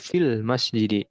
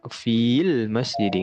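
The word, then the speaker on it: فِي الْمَسْجِدِ: Kalau di wasol fil masjidi. Jadi nggak dibaca panjang fi-nya. Nggak fil masjidi, nggak seperti itu.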